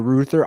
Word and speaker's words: Reuther: Walter Philip Ruther, but it's spelled Reuther.